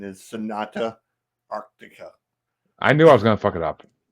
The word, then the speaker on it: Sonata Arctica: go um I'm with chy and the correct pronunciation is Sonata Arctica I knew I was gonna